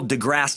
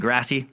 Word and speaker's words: deGrasse: I mispronounced a dude's name last week, Neil deGrasse Tyson. I've been calling him Degrassi as if he's the fucking star of Degrassi